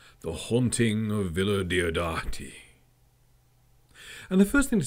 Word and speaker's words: Villa Diodati: But Villa Diodati is pronounced how it sounds and is really fun to say. Villa Diodati.